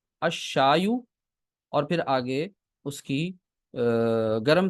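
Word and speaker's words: الشاي: ये शमसी हर्फ आ गया तो लाम प्रोनाउंस नहीं होगा, अशायु।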